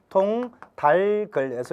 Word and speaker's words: 통닭을: 그러므로 이 단어의 발음은 통닭을 즉 자 올바르게 발음을 한번 해보게 되면 통달글에서 이렇게 발음이 돼야 되겠죠.